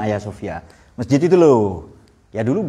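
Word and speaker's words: Hagia Sophia: Sofia tahu Ay Sofia tulisannya Hagi Sofia ini bacanya Ay Sofia Masjid itu loh ya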